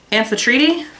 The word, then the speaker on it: Amphitrite: This is Amphitrite. Learned that that's how you pronounce it from Leslie.